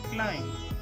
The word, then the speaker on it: climb: It should be called as climb, climb. B should not be emphasized because b is silent as m and b are placed together.